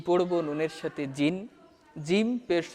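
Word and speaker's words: جيم: এই জিমের একটা উচ্চারণ হচ্ছে যে জিম জিহুবার মাঝ হতে শক্তভাবে আদায় হবে।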